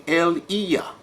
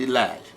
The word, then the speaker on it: Elijah: This is why Yah said in Malachi chapter 4, he says, I'm going to bring Eliah. Okay, it's not pronounced Elijah. He said, I'm going to bring Eliah, okay, before the coming of the great and dreadful day that shall burn like an oven.